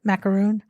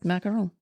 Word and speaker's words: macaron: The the giant macaroon. How do you say it? Macaron.